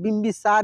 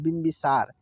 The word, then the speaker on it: बिंबिसार: होगा बम बम देखिए बी के बाद मौका उच्चारण हो रहा है बिंबिसार इसको पढ़ेंगे इसको क्या पढ़ेंगे बोलो बिंबिसार ठीक है इसको हम लोग